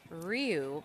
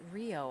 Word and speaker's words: Rio: pronouncing a surname as Ryu but apparently it is Rio I believe like Brazil Rio Brazil uh so hopefully carrying